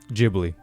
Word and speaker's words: Ghibli: Do you know how you pronounce that? Ghibli. Ghibli? Yes. Like giblets?